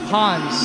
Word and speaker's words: Hanz: Hans okay let's get that straight first it's pronounced Hans yes okay where where did the name come